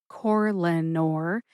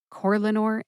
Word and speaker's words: Corlanor: So the brand name again is Corlanor, and the generic name is ivabradine. Corlanor and ivabradine.